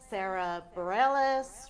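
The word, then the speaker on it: Sara Bareilles: you've been compared to Carole King Sarah McLachlan Sarah Bareilles right is that how you sell her say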